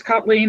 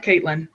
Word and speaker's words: Kathleen: She's yep, it's Kathleen. It's not Caitlin.